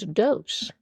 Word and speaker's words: dos: Well, of course, two in Spanish is dose. So, dos d o s and dose are spelled uh exactly the same.